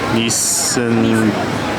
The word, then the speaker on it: Nissin: Okay, just outside here and this one is Nii- I can't pronounce that. Nissin Nissin.